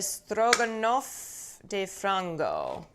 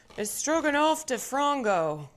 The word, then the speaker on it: Stroganoff de Frango: It is pronounced Stroganoff de Frango. Stroganoff de Frango.